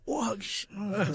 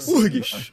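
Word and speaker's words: UFRGS: URGs, Urgs, Federal do Rio Grande do Sul. com o meu os amigos aí do sul, a gente sabe pronunciar direito, é urgs, urgs, como os nossos colegas falam.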